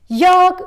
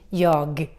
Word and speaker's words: jag: And in Swedish, we have a tendency to drop the G in the end. We don't pronounce it. That's why we say ja instead of saying jag.